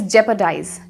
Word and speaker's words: jeopardize: So today's word is jeopardize.